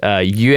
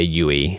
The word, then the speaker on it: Yue: Yue, if you want to go the correct pronunciation, but in the show they say Yui.